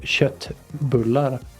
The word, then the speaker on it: köttbullar: make it köttbullar. Kött being meat. No one would guess, actually, outside Sweden that köttbullar is pronounced S with S instead of K, because it looks Yeah.